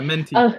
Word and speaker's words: Menti: Everybody's thinking it's it's very clear that, you know, even with the menty polling, menty, is that how you say it? Yeah, menty.